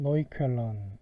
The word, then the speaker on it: Neukölln: 예, 독일어로 Acht und 40 Stunden Neukölln 이렇게 이제 발음을 하는데, 지금은 거의 이제 국제적인 규모로 성장했고 굉장히 유명한, 말 그대로 48시간 동안 진행되는, 그러니까 이틀 정도죠.